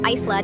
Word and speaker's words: Isla: My daughter's name is Isla, pronounced eye-la.